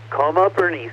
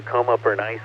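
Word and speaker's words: Coma Berenices: look at another twofer coma bernis or coma bernis I've heard it pronounced both ways bernis here and kis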